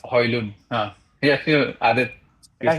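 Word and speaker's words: Højlund: Oh, Hoyland. Hmm. It's At this- actually, I've and- heard him say his name, and I think he said it's Hoylund.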